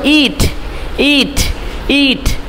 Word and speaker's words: eat: কারণ এই যে দেখেন এই সাউন্ডটা একটু টান হবে, টান দিতে হবে, টান না দিলে তো হবে না। ইট, এটা উচ্চারণ হবে ইট ইট ইট।